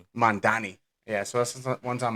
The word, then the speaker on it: Mamdani: Mandani. Mandani.